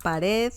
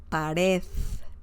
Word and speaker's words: pared: Pared means wall, okay? Pared. Pared. Don't forget the pronunciation, or to pronounce the letter the as in, the at the end. The as in delta.